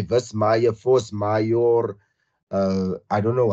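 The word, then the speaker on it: force majeure: they say verse Maya Force mayor uh I don't know how you guys want to but it's like force like the English word force and then Mayo is like m-a-j-e-u-r-e how you pronounce that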